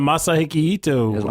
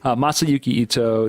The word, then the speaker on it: Masayuki Ito: There's a lot of Masahiko Ito. I totally mispronounced that too. Yeah, I know. It's not even that long of a name. I just keep saying it wrong.